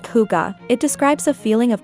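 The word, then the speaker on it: hygge: Pronounced huga, it describes a feeling of coziness, warmth, and togetherness.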